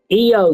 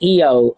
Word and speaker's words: Io: Um, eo, she's a healer. Oh, thank you. Yeah. Yeah. Well, no. Um, it's pronounced eio. Um, um, in Japan, eyes are pronounced with e.